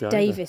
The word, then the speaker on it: Davies: And do you pronounce that Davies or Davis? D-A-V-I-E-S. I think it's Davis sometimes.